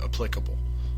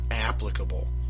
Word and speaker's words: applicable: and by the way that is how you say that word applicable um it's not applicable it it's derived from the word apply tense applicable that's why the stressed syllable is the applicable not applicable you don't apply for